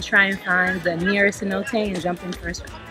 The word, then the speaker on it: cenote: gonna go and try in time the near cenote and jump in everybody to see though it's pronounced sin no take 10 or 30 years I'll say nothing I